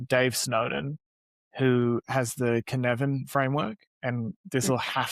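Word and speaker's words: Cynefin: Snowden who has the Knevan framework and this will have to go into the show notes because KVan is not spelled the way it sounds. It's a Welsh word.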